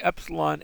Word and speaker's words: epsilon: We're not going to call it e. We're going to call them epsilon and eta.